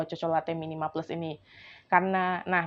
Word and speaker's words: Cocolatte: Nah, jadi pilihanku itu jatuh ke mereknya namanya ee benar enggak sih bacanya Cocolate? Chocolate. Aku bilang coklat. Tapi kalau coklat kan e choco ya, ada h-nya jadi chocolate chocolate ya.